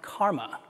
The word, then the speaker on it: CCRMA: and Acoustics, CCRMA, and is often pronounced KARMA. What is it that I do at KARMA, you ask?